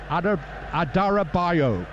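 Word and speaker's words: Adarabioyo: Adarabayo. It's one of the syllables you don't pronounce.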